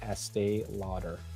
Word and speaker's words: Estee Lauder: how do you say Estee Lauder let's see let's see EST laer AE loader AE here's the breakdown Lauder is low and then dur Estee Lauder okay so it's Estee